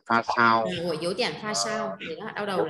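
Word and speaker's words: 发烧: pha xăng Ừ, pha sao, đọc là pha sao ạ.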